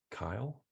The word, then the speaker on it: Caio: Um, CAIO is pronounced Kyle. All right. All right. I love it. Are you sure the L's in there? Are you sure it's not Kyle? Kyle? I'm literally asking someone if they're sure how to pronounce their own name. All right, it's Kyle.